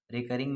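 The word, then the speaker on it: recurring: इसके बाद आप लिखेंगे रिकयरिंग। ठीक है? रिकरिंग आप कह रहे हैं। रिकरिंग भी कह सकते हैं इसको। रिकरिंग मेरे ख्याल से प्रोनाउंसिएशन इसकी सही रहेगी। अच्छा आते हैं क्वेश्चन नंबर थ्री पे।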